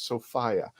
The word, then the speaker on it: Sophia: the correct way to say her name is sopia I've been corrected and I've corrected my 10-year